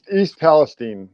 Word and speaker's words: East Palestine: East Palestine is how it's pronounced.